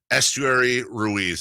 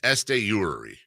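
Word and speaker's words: Esteury Ruiz: When we come back, safe or out, including Estuary Ruiz. That's not how you say it. I think it's Estuary.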